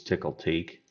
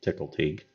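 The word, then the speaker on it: Tcl/Tk: you'll see right here this is tickle teak that's how you pronounce it tickle teak but why do I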